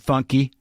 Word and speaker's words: Fonky: It's how it's spelled, F-O-N, but funky.